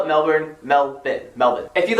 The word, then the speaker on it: Melbourne: do not call the city in the South Melbourne that's not how they pronounce it there in Australia it is Melbourne Melvin not why is it melbin it's spelled milber I'm from Melvin Melbourne locals